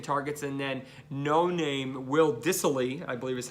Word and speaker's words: Dissly: And then no-name Will Dissly, I believe is how it's pronounced, I believe is technically classified as a